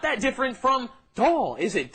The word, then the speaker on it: 더: And like Steven said, be careful with the pronunciation. You don't want to say it's a lot more difficult when you mean a lot less. The pronunciation is very similar. 덜 and 더.